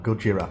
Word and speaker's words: Gojira: suffering from shell shock that's like the original pronunciation for godzilla gojira panama there are so